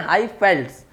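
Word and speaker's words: Highveld: हैं न्यूजीलैंड में, और हाई वेल्ट्स या फिर इसको प्रोनाउंस करते हैं हाई फेल्ट्स इन साउथ अफ्रीका।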